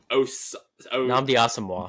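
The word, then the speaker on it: Nnamdi Asomugha: Namdi Namdi Asamoah. Yes, that's how you say it.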